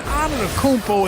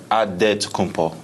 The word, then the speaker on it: Antetokounmpo: And Antetokounmpo is so long.